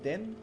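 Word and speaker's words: 電: comment le lire alors ce caractère là s'appelle den se prononce den excusez l'accent j'ai pas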